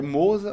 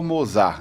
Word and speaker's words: Mozart: O correto, a pronúncia correta é Moza, né? Mas aqui no Ceará ninguém me chama de Moza, né? Então todo mundo chama de Mozart.